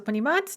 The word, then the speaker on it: понимать: So понимать, to understand, the stress is on that a in the infinitive.